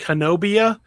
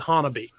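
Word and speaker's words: Honobia: against the wachitas it's it's spelled h-o-n-o-b-i-a it looks like henobia but the our oklahoma pronunciations like miami being what they are they pronounce it hanabi did you give me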